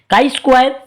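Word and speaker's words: chi-square: काई स्क्वायर Greek भाषा का एक शब्द है जिसका उच्चारण कई वर्ग के रूप में किया गया।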